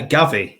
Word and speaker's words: Gavi: on the next player it rhymes with Javi and he's also at Barcelona uh gavi yes sir the reigning